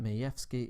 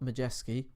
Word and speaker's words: Majewski: And I have it on good authority that Majewski is the correct way to pronounce that. Not Majewski or Majewski or Majewski. Majewski's got a slight F in there, I believe.